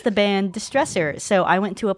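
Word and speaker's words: DSTRESSR: Um, their band name is spelled really weird. It's D S T R E SSR Distresser.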